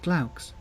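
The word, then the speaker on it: glaux: have to figure out you should pronounce it Klaus from what I recall from my classical studies that means owl I think it comes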